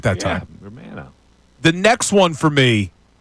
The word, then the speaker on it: Romano: Romano.